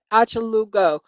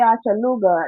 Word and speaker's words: Achalugo: It's Achalugo because Yeah, O's are masculine and A's yeah. are feminine. If you say Achaluga, that sounds English, like the oh Achalugo. go. Achalugo. I think that's how they say it.